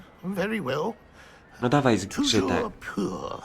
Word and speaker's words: Toujours pur: Toujours pure. Toujours pure.